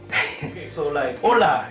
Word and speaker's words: hola: like take your wallet hola it's very important you just say H o la the H is silent right but you're gonna do